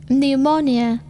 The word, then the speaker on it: pneumonia: P is not pronounced at the beginning of many words using the suffix PSYCH and PNEU. psychiatrist, Pneumonia.